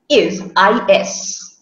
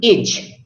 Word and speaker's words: is: But the real and actual pronunciation of that S is not is. It is. So that is the sound of the letter Z or Z. So the correct pronunciation of that word is, not ij or not is.